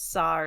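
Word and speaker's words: సార్: It has sir as a word, and it says sir is an American, and then it says sar is how you pronounce it in Telugu.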